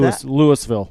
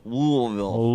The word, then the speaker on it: Louisville: present time yeah Le Lewisville Lewisville just banging out disco balls like nobody's business I think you're supposed to say it like you have a mouth bille louville lville lville yeah disco balls I can't